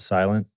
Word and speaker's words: SLNT: Yeah, we pronounce it Silent. That's the brand name.